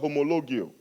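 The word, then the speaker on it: ὁμολογέω: The word confession in the Bible comes from a Greek word pronounced homologio.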